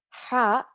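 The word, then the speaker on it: ح: you will get it ha comes from the back of your throat ha ha almost like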